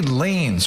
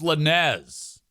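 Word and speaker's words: Lanez: and Rehabilitation says Tory Lanes was stabbed. Okay. Well, I thought it was Lanz cuz it's spelled, you know, Lanz. L A N E Z is lanes, I guess. My bad.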